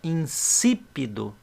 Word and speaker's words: insípido: Por isso que tem que colocar para justamente indicar que a sílaba tônica, aquela que nós vamos falar mais alto, é a que tem o acento. Ó, insípido.